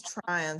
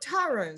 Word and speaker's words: Tryon: Tryon Street, and we get this a lot, people will always call it Tyrone Street, and it's not named for Tyrone Powell, but and I always tell people you spell it like you try on clothes, and so that sort of helps.